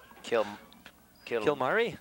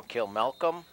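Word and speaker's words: Kilmacolm: Kilmari? No, Kilmalcolm.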